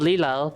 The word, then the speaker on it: Lilo: It's spelled Lilo, but it's pronounced Lilo.